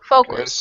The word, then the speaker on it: focus: So in this word, instead of saying ow, okay, it's oh. Oh. Focus. Okay, so there you go. So like that. Focus. Okay. More of an O sound.